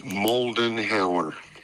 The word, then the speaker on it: Moldenhauer: It's Moldenhauer. Moldenhauer.